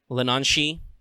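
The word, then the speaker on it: Leanan sídhe: I've toyed around with the idea of Lenanshi, and yes, I am pronouncing that correctly.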